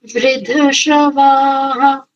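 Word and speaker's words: वृद्धश्रवा: बढ़िया अच्छा उच्चारण है एक बार वृद्ध शवा इस शब्द को पुनः उच्चारित कीजिए वृद्ध शवा धवा अब ठीक है वृद्ध एक शब्द है वृद्ध और एक है शवा ये शब्द का बड़ा सुंदर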